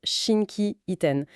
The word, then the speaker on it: 心機一転: Et cette expression c'est Shinki iten qu'on prononce Shinkien.